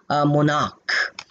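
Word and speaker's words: monarch: अब जैसे मैं अगर मैं बोलूं मोनार्क अब यहां ध्यान यहां पे सीए यहां भी है। सीए ऊपर भी था। सीएच यहां पे भी है। लेकिन यहां पे सीए का साउंड क है। सीए आपको पता है जैसे केमिस्ट्री शुरू में आ रहा है। केमिस्ट्री को सीएच को क बोल रहे हैं।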